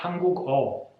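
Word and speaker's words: 한국어: Pues la regla general sería añadir al país la sílaba o al final, o. Por ejemplo, Hanguk es Corea, coreano se diría Hanguk-o, idioma coreano se diría Hanguk-o.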